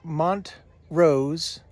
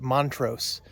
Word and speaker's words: Montrose: Gunnison is near montro Mont Rose Colorado I always want to call it Montrose but I'm I keep hearing people say Mont Rose so I'm guessing that's how you say it this is site a12